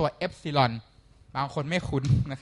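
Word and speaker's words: epsilon: สัญลักษณ์ ตัว กรีก ครับ อ่าน ว่า ตัว ซิลอน บาง คน ไม่ คุ้น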